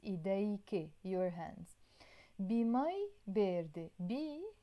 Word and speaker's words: إيد: you just want to say hand, you say إيد. I will write it either like this. I can also put the number 2 to pronounce the e. In Arabic, we will write it Eid in the Lebanese Arabic way, okay?